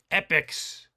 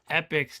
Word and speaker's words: Epyx: play games by epics no not not that kind not epics the plural of the noun epics it is spelled like this epics I know you know Stu but in case anybody might be confused out there now now they know um epics yeah they're